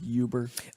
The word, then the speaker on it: Uber: Uber disclosed a couple of days ago, It's pronounced Uber.